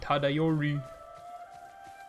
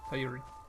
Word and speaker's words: Tadayori: Like I would have said Tadayori, but he said Tadayori. Like it was super fast. It's like there were no syllables in that.